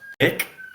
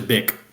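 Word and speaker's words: Bích: I think that's pronounced bick.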